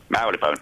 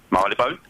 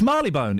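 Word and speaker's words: Marylebone: b o n e how would you say that Marone Wrong Mary bone correct it's Mary bone it's Bob marleybone I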